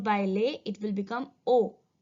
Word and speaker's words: aux: When a is followed by le, it will become o. A, u, x. I'll repeat. A, u, x. and the pronunciation is O.